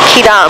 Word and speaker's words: Quidam: It's pronounced Quidam.